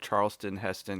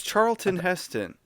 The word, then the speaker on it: Charlton Heston: to name this episode charleston heston because everyone keeps saying it that way wait charles what is it what is it really it's charlton heston i think joey has said